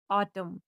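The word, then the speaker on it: autumn: ई डब्ल्यू S news इसका दूसरा rule है कि जब एन के पहले एम आए तो एन साइलेंट होता है। जैसे ए यू टी यू एम एन ऑटम पी ओ एल यू एम N column.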